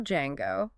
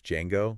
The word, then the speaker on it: Django: And the little joke they have in the bar about how to pronounce Django. Yeah, the D is silent.